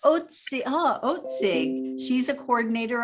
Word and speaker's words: Otzig: And I'm going to introduce Leah Otzig. Did I pronounce that correctly, Leah? Otzig, as in oats. Otzig.